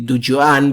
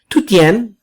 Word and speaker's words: Dujuan: kung basahin po natin ito ay Dujuan, but ito po ay mali. Based on the pronunciation, kasi Chinese name po ito, it's the Chinese name for azalea. So, yung punong kahoy na azalea. So, ang right pronunciation po nito is Tutian. Okay, ganun po ang pag-pronounce niyan. Hindi pwedeng pababa. So, pataas. Tutian.